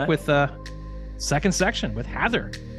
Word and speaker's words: Hathor: internet it is pronounced Heather no so h-a-t-h-o-r so if as a little device for myself it's pronounced in a similar way to the legendary news anchor Dan Rather or the less legendary